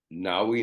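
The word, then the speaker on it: Ngaio: the Four Queens and that included chrisy s Nai Marsh her first name is spelled hen G A IO um and Marjorie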